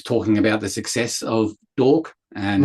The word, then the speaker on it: D'Orc: So that's that that's Dork. It's spelled D uh apostrophe o. So it's like an orc with a d in the front. So dork.